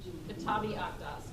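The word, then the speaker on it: Kitáb-i-Aqdas: Kitabi Akdas. K-I-T-A-B-I-A-Q-D-A-S. I feel like I'm in a spelling bee. Kitabi Akdas.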